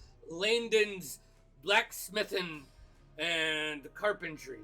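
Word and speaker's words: Laindon: that for me La I l a i n d o n Landon but I say Landon so you know all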